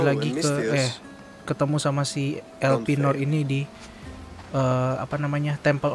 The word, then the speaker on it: Elpenor: Eh, bacanya Elpinor benar.